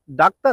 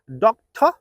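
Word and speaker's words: doctor: can repeat the word শব্দটি ডাক্তার না শব্দটি হচ্ছে ডক্টর এর পরবর্তী শব্দটি হচ্ছে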